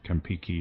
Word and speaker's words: Campeche: ancestors in the area pronounce it Campiki or something like that, and I have not been able to find a single reference to that. Whatever it is. But if you actually look down there at the writing on this is an English-made map, and they've spelled it Campechy, so it's clear that they pronounced it Campeche.